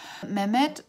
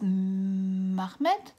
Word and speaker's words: Mehmed: raku her brother Raju Mehmed who is for some reason pronounced Mahmud in the audio book but the way the name is written from the Turkish people that I know I totally pronounced a minute who's like the